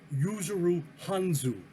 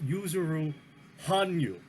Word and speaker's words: Yuzuru Hanyu: mispronounced one other name yuzuru Hanyu is what I said but it's user room Han you and I've just learned